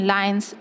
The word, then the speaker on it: lion: The donkey in lion's skin. Lion's skin, loin नहीं बोलेंगे, okay? Once upon a time, a donkey found lion's skin.